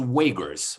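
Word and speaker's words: Uyghur: i'm gonna butcher extension i'm gonna spell it's u y g h you are so they're pronounced wakers wait wait okay right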